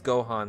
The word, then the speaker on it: Gohan: But yes, as long as you call me Hogan, it's Gohan, like Dragon Ball Z.